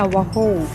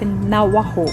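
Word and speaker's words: Navajo: เขา เรียก อย่าง ว่า นาวาโฮ จริง ๆ แล้ว สะกด ว่า นาวาโจ นะ คะ แต่ เสียง โจเนี่ย เขา จะ ออก เสียง เป็น เสียง H เสียง ฮอลล์ นะ คะ เป็น นวโฮ อัน นี้ magnet นี้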